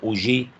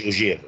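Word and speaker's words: Auger: في اخر نوع بقى مشهور جدا يسموه اوجي ريكومبينيشن مش اوجير النطق بتاعها اوجي اوجي ريكومبينيشن.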